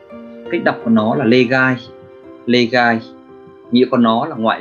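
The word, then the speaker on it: 例外: Cách đọc của nó là legai.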